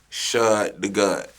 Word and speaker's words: Shad Da God: Shad Da God. Do people mispronounce this?